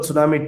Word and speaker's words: tsunami: any other answer but that's very fun only why I'm just connected with this the word tsunami t is silent the word harness h